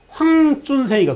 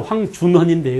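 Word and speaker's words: 황준셴: 청나라 사람 청국의 관원인 황준생이가, 그죠? 청국인인 황준생, 한자로 황준헌인데 요즘 이제 전부 다 중국식 발음으로 해주죠.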